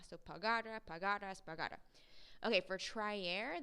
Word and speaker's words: pagara: it with the um with the spoken accent before the ra so pagara pagaras pagara okay for